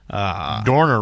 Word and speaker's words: Dorner: Dorner rhymes with corner.